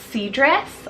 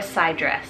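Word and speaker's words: Cydris: i really love them so it's either c dress or side dress about c-y-d-r-i-s i hope i'm pronouncing that one right one or the other both of them could work but this one means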